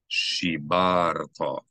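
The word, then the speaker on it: שִׁבַּרְתָּ: al haluchoth horishonim asher shibarto. We know the accent that's this syllable because it has the method, the thing pointing up and down. Shibarto and not shibarto. Shibarto, shibarto. Yomer Adonai El Moshe, Sol Lecha, Shene Luchoth, Avonim, Ori Shonim.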